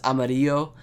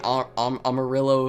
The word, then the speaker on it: Amarillo: I'm not Spanish, but I know this is pronounced Amarillo. Or I guess you could say Amarillo if you want.